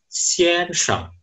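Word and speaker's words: 先生: Selanjutnya, aksara ini di bahasa Mandarin dibaca xian sheng. Xian sheng. Xian sheng artinya adalah tuan. Xian sheng. Kalau di bahasa Jepang cara bacanya sensei.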